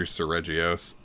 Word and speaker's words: Seregios: Because in Japanese, you wouldn't say it with a soft G, you'd say it with a hard G.